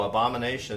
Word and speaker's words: Abomination: Oh, Abomination. Abomination. That's the right pronunciation.